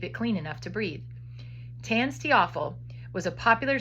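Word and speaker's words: TANSTAAFL: Its slang name is tanstiaphel. Tanstiaphel, that's how you pronounce that, which means there ain't no such thing as a free lunch.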